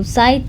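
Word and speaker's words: Zeit: Nah, di sini ada zaid atau waktu side ya. Jangan lupa e I itu dibacanya A i. Jadi side side side atau waktu.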